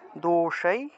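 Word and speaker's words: दोषैः: ত্রি গুণ ত্রিগুণাপি ত্রিগুণাপি দোষাই মূর্ধন উচ্চারণ স উচ্চারণ করবেন দোষই ত্রিগুণাপি ত্রি গুণাপি দোষাই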